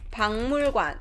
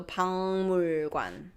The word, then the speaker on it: 박물관: 박물관, museum. 박물관 is hard. So 박물관.